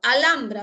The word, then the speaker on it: Alhambra: Alhambra, ¿está bien? La H no tiene sonido, la L entre vocal y vocal forma sílaba con la segunda, correcto.